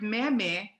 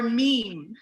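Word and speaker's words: méme: something to tell you you did not invent the word meme or meme that's true so we have to drop an accent mark on the first syllable just to make it clear so there's a picture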